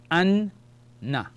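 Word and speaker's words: أنّ: So, Alif, Fatha, Noon with the Shadda is called Noon Mushaddada. So it gives me the sound of An. And I call the letter again with the vowel, Noon Fatha, Na. So we have An, Na. Anna.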